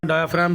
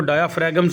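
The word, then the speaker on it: diaphragm: तो आपने यहाँ डायाफ्राम भी देख लिया और कॉन्डोम्स भी देख लिया, इसको डायाफ्रैगम्स नहीं पढ़ना, इसमें जी साइलेंट है।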